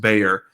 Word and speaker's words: Bexar: is called b is uh spelled b-a-x-a-r and pronounced bayer uh so one of our founders um john